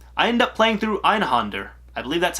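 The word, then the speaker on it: Einhänder: I end up playing through Einhander. I believe that's how you say it, or Einhanda, on the original PlayStation.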